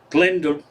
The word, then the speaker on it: Glendalough: The Irish pronounce low the same as the Scottish said, like lock, Glendalough.